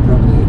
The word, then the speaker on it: Promenade: Promenade. Is it Promenade or Promenade? Promenade. Like lemonade? Yes.